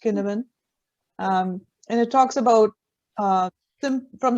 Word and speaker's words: Cynefin: It's a Welsh word. Cynefin, pronounced Kinevin, and it talks about from the simple to the complex types of environments.